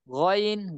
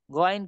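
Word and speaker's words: غين: গইন গইন, গইন কিন্তু আমরা বলি না, গাইন বলি না।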